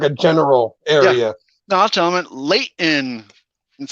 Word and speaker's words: Layton: general area no gentlemen late in that's how you say you don't say the t it's pronounced layton so are you like